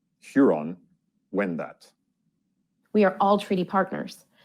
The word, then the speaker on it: Huron-Wendat: Here are some of them and their correct pronunciation. Toronto. Toronto. Nishnabek. Nishnabek. Haudenosaunee. Haudenosaunee. Huron-Wendat. Huron-Wendat.